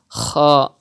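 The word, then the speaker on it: ح: You have to pronounce Ha from the middle part of your throat. If you read it as a Ha, not correct. If you read as Ha, it's also not correct.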